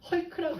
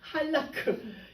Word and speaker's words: 할라크: 제가 카톡에 할라크를 해놨더니 누가 헐크라고 읽었어. 헐크가 아니라 할라크.